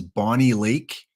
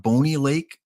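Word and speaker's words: Bonney Lake: them is Bonnie Lake I hope it's not bony Lake if I'm mispronouncing it please let me know Max is it Bonnie Lake and Bonnie and Clyde or is it bony like bony M yes yes okay that's the best answer don't worry trivia is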